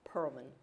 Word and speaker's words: Perelman: Mike, you mispronounced that. It's Perelman School of Medicine at Penn.